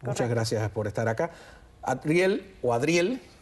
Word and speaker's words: Adriel: Adriel, me empeño yo en pronunciar la D independiente. Adriel, periodista de TV Martí, bueno, un joven inteligente que hemos visto muchas veces acá.